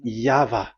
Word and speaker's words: Yahvah: Pronunciation is equal V. It is V. Y H V H. So it is YAHVAH.